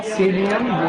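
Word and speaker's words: Psidium: सीडियम गुआ जावा। जामुन को क्या बोला? सीडियम गुआ जावा, ठीक है, बहुत बढ़िया। सीजीजियम क्यूमिनाई रे, सीजीजियम क्यूमिनाई। एक्चुअली सीडियम जो लिखते हैं, सीडियम, उसमें पी साइलेंट रहता है, ऐसे लिखते हैं।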